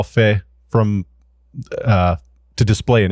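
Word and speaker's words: feh: and is that how you say it yeah Fe Fe is a command line image viewer and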